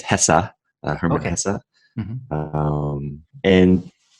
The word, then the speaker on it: Hesse: is Dana by Herman I always pronounce his last name Hess but I just looked it up and worth chatting about this looks like it HESA Herman Casa and like